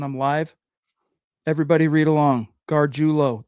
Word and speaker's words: Gargiulo: Gargiulo. That's how you say his name. You had it right the first time, bro.